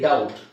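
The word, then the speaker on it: dumb: ಅಂತ ಹೇಳಲ್ಲ debt ಸೋಬಿ is silent ಹಾಗೆ ಇಲ್ಲಿ ಡೌಟ್ ನೀವೆಲ್ಲರೂ ಯೂಸ್ ಮಾಡೋ ಪದ ಇದು ಕಾಮನ್ ಆಗಿ ನಾವೆಲ್ಲರೂ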